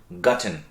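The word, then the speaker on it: gotten: গাট বলেন না তারা ওই পাস্ট পার্টিসিপলে বলেন গাটেন আমরা হয়তো মানে অপশন হিসেবে গার্টেনও শিখেছি কিন্তু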